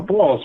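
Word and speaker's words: Bawls: for the faith uh it's spelled i think b-a-w-l-z so you know balls right so if you try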